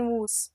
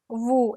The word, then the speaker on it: vous: Many students in the beginning they'll say nous and vous. No, it's nous, vous. S is silent completely.